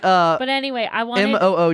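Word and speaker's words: Moog: but anyway I want m o o g is pronounced moo I almost got a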